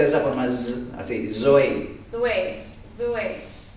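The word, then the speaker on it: ζωή: Se pronuncia de esa forma, así, zoe.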